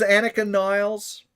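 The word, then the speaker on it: Anika Nilles: She's been announced as Annika Niles.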